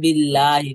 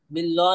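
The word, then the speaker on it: بالله: আমানতু বিল্লাহি আমানতু বিল্লাহি বিল্লাহ না বিল্লাহি বিল্লাহি আমানতু বিল্লাহি আমানতু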